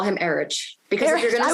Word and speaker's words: Erich: night portion were Eric, which is Eric, but spelled with an H at the end. Well, I only call him Erich because Erich.